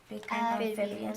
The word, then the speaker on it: amphibians: Amphibians.